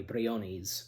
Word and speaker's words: Briones: gotta I think yeah you have to say it like that even like where she says her name um you know she says it that way Briones but um yeah and Isa Brioni is like you know